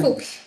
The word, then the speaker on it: Fuks: Fuchs, ¿cómo se pronuncia? Fuchs. Fuchs, ok.